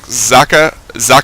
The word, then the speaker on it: Socke: It's German for sock, and it's pronounced like Zaka, I believe. But I'm probably just going to call him Socke because it's going to